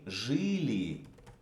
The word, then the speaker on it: жили: Let's say мы жили. We lived. This is stressed. The first E.